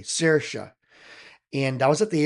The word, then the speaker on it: Saoirse: But her name is Saoirse, and it's pronounced differently, Saoirse.